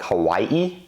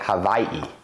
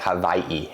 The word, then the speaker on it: Hawaii: Another thing is going to be, instead of pronouncing Hawaii like Hawaii, I'm pronouncing it Hawaii. Because the locals say they pronounce Hawaii with more of a V, like Hawaii.